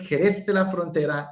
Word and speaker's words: Jerez de la Frontera: talking about fortified wine from the region of jerez de la frontera in spain notice that i nailed the pronunciation now with final cut pro you have